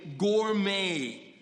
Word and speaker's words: Gourmet: Like yesterday, in a bus, she finds this magazine somebody threw away, Gourmet. It's spelled with a T, but you say it gourmet.